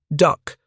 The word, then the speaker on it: DUKW: Pronounced aloud, however, it became duck, and the nickname stuck instantly.